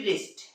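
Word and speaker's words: wrist: नहीं किया जाता है आर से इसका प्रनंसीएशन होता है जैसे डब्लू आर ओ एन जी रोंग व आर आई टी राइट व आर आई एस टी रिस्ट okay तो यह थी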